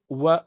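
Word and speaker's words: و: This is W sound in English. It's not V sound, it's W. You can't say Va, Va, Va. You have to say Wa.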